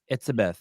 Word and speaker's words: Etsebeth: Etsebeth. What is like that? Elizabeth, but it's Dutch German, I believe, is the origins.